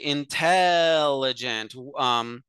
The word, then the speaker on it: intelligent: But in English, we say intelligent. We have a stressed syllable that is pronounced much longer than a non-stressed syllable.